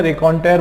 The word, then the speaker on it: raconteur: तो ऐसे लोगों को जो है रेकॉन्टेयर बोलते हैं, ठीक है। क्या बोलते हैं, रेकॉन्टेयर। कैसे पढ़ेंगे, इसकी स्पेलिंग आप देखो, RACONTEUR, रेकॉन्टेयर, है ना। रेकॉन्टेयर, इसको इस तरीके से हम बोल सकते हैं, ठीक है।